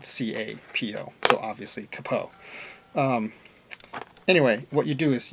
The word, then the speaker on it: capo: a lot of students ask me how I pronounce it this is the capo some people say capo I've heard it both ways but it's not